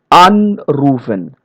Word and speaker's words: anrufen: Vollenden, widersprechen, while other prefixes are stressed. Here, anrufen, ausgehen, wiedersehen. So we see the stress is on the prefix part.